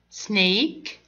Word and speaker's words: snake: Snake. Snake. Here, it's long vowel. هنا long vowel ليه؟ لأن بعد حرف الـ A جاء في آخر الكلمة letter E. فنقولها snake. Snake.